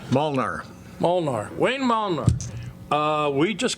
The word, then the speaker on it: Molnar: Molnar.